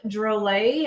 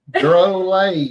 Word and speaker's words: Drolet: Rob Drole. And I double checked that is how we say his name. Yep. Drole. USA. Drole.